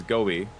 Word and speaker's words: Gobi: Um the character's name is Gobi, pronounced like the fish, but spelled differently.